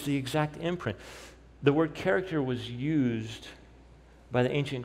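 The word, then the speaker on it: χαρακτήρ: exact imprint let me give you the greek pronunciation you ready for it character that's the greek word that's how you pronounce it character so you read the text that way isn't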